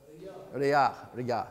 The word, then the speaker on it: Rayak: Riyah, thank you. Riyah, right? It's spelled in English, Rayak.